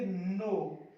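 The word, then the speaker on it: knee: तो आपको दोनों को साइलेंट करना है, तो इसको पढ़ेंगे नो, नो।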